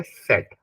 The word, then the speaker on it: Z: और जो मेरा Z है वो है यहाँ पे सेट, यानी कि T यहाँ पे साइलेंट है, सेट.